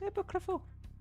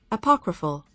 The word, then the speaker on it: apocryphal: Epo epocal is pronounced epocal. Apocryphal. Oh, it's apocryphal.